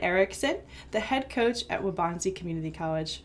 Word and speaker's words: Waubonsee: Today I'm here with a very special guest, Jarod Ericksen, the head coach at Waubonsee Community College.